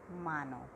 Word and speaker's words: hermano: Then hermano. I am not saying H because H is silent. Then hermano, that is brother.